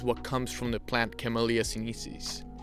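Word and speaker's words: Camellia sinensis: comes from the plant camellia synesis camellia sinesis that's how you say it properly oh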